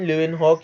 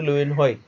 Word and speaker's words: Leeuwenhoek: Now Antony van Leeuwenhoek या फिर van Leeuwenhoek, Leeuwenhoek भी बोलते हैं कुछ लोग, ये आपके आपके प्रोनाउंसिएशन के ऊपर है। अब एंटोनी वॉन ल्यूवेनहॉक या फिर ल्यूवेनहॉइक, this guy वॉज an ordinary person.